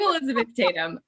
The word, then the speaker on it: Elizabeth Tatham: for a second man i'll say my name i could say that correctly i'm elizabeth tatum um i am a